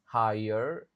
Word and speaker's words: higher: Di jadi di kata ini G-nya silent, G-nya enggak dibaca. Higher education bukan higher.